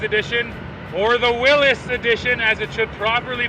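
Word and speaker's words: Willys: here we are driving in the Wrangler 4xe Willies Edition or the Willis Edition as it should properly be pronounced but even the Jeep folks call it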